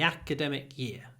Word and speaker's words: academic: member the Academic Year the Academic Year stresses on the a the Academic Year academic